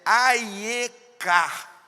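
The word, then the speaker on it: אַיֶּכָּה: A palavra aqui, lá no hebraico, a pronúncia é bem fraquinha, né? Mas é Aieka, transliterado para o português com H no final.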